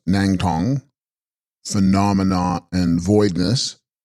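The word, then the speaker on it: snang-stong: Snang Stong, pronounced Nang Tong, phenomena and voidness.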